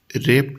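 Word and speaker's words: wrap: कर दिया फिर आएगी रेप टेस्ट टेक्स्ट रप तो इसके देखो डब्लू इसमें वर्ड लिखते हैं परंतु यह क्या है साइलेंट रहता है रैप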